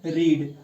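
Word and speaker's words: read: अब पढ़ना क्या होता है, रीड। अब इसका चाहे फर्स्ट फॉर्म हो चाहे सेकंड फॉर्म हो, लेकिन प्रोनाउंसिएशन में इसमें चेंज, रीड रेड होता है।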